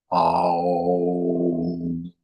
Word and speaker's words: Om: And so when you say Om, when you say it properly, it goes Om.